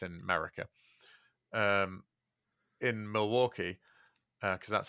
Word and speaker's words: Milwaukee: I'm saying it Derby because that's how it's pronounced in America, in Milwaukee, because that's how it's pronounced in America, except in Wayne's World, where it's pronounced Milwaukee, which is Algonquin for the good land.